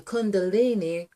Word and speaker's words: Kundalini: So we do CUN, which really rhymes with CON, with a lot of the snakes, for instance. So DALINI.